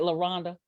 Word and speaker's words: LaRonda: LaRonda. Rhonda, like help me, Rhonda, help, but with the love. I like to tell people it's French, so that's how they remember.